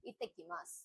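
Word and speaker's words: いってきます: இத்தக்கிமாஸ் இந்த டபுள்டி வர இடத்துல கொஞ்சம் ஸ்ட்ரெஸ் பண்ணி சொல்ல அந்த இங்கிலீஷ் வரும் அந்த மாதிரி இத்தமாஸ் இப்ப மாசம் நான் கிளம்புறேன்னு அர்த்தம்.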